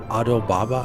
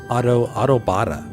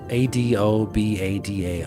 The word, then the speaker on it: adobada: we had those exquisite carne asada tacos and adobaba. How do you say adoba? I forgot the name of the meat. It's like pork. Those tacos. So good. So good, man. I know I'm pronouncing it wrong. Adobada.